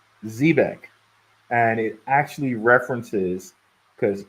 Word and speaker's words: Zebec: So one thing too, I just wanted to point out to you guys, as far as Zebec goes, it is pronounced Zebec, and it actually references, because it can be spelled this way or that way, a Mediterranean sailing ship.